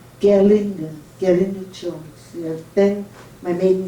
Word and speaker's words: Gerlinde: here my name is my first name is pronounced gerlinger gary nichols then my